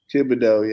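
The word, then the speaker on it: Thibodeaux: I can't pronounce his name. Kayvon Thibodeau. Thibodeau, yeah, that's good.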